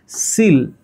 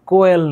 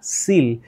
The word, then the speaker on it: coel: ওই যে সিল, COEL, সিল, উচ্চারণটা কোয়েল না, সিল।